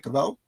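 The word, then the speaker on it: Cavill: There were um fans of of the Snider verse of Henry uh Caval. Am I saying it right? Cavvel.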